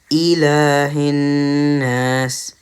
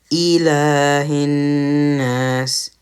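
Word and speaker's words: إِلَٰهِ ٱلنَّاسِ: So it should be pronounced as Ilahin Nas, Ilahin Nas, Ilahin Nas.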